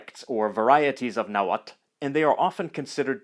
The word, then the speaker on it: Nahuatl: in writing by TL in Central and Northern naat it retains its classical sound so the name of the language is pronounced naat this is a consonant